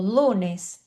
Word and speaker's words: lunes: Quando ela tá no início, por exemplo, lunes, é igual a português, né? Letícia, Lunes. Então, o L é igual.